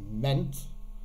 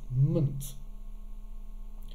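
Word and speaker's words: -ment: we have um here we would like to think that this is pronounced meant but it's actually pronounced munt then we have ist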